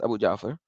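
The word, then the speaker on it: Abu Ja'far: doubt and it says Abu jaur Abu jaur said pronounced himself as Abu Jaffer he says he says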